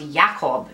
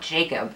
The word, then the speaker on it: Jakob: guy like fun fact in a polish jewish environment his name would have pronounced yakov not jacob so what do with